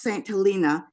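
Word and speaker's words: St. Helena: St oh uh well I understand it's pronounced St helina uh over in the wine country in in Napa area and when I walked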